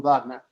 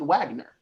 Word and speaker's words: Wagner: Everyone in the room, Wagner. Okay, got it. I said, so now if an American that didn't know Germanic pronunciation or study music, they may just pronounce it Wagner.